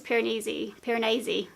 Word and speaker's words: Piranesi: First one is Piranesi, I keep saying it wrong, which I think Piranesi